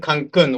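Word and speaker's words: Cancún: And the conference was at Cancun, Sheraton. By the way, the pronunciation for the word Cancun, which is the name of this village, is with accent here.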